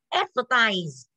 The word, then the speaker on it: advertise: Bởi vì là khi đọc thì trọng âm nó sẽ rơi vào âm tiết đầu gì? Đầu tiên, có đúng không ạ? Thì mình sẽ đọc là advertise.